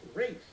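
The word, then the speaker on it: Ralph: Concerning the pronunciation of his name, this star of The English Patient said, "It's Rafe, actually."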